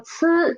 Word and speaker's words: 次: For 次, the air is much stronger. Okay? Soft, strong. Okay? Soft, strong. And for 次, don't touch. Don't make your tongue touch the upper teeth. Just be close to it, approach it, but don't touch.